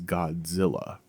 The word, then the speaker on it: Godzilla: The way that Americans pronounce it is Godzilla.